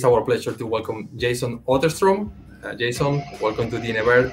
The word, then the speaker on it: Otterstrom: I hope I pronounced your name correctly. Jason Otterstrom. Yeah, Otterstrom.